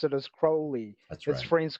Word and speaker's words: Crowley: Let's get the pronunciation right now, kids. Cruy. Rhymes with holy, you know. So, holy moly. It's Alistister Crowley.